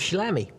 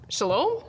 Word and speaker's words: shalom: Sort of shalami. What? Shalami. Shalam. Shalom?